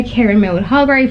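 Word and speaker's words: Kiran Millwood: So we have The Mercies by Kieran Mildhall, that's how you say her name.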